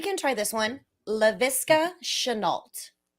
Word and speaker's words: Shenault: Last name is Try Chenault.